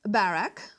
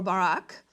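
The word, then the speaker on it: Barak: - Yeah and so let's talk about it, because she calls Barack, or Barack (pronounces differently) and he seems to be an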